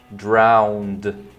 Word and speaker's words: drowned: Alright, só um detalhe sobre a pronúncia que é drowned. O E não pronuncia, tá?